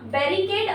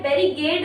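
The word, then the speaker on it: barricade: आई सी एडी ई बेरी केड होता है बेरी गड नहीं होता हम लोग बेरी गट बोलते हैं बेरी गट भी बोलते हैं कभी-कभी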